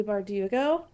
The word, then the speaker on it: Bardugo: about it but it's the familiar by Lee bardugo say right did such a good job I